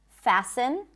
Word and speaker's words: fasten: But just so you know, the T is generally not pronounced in this word.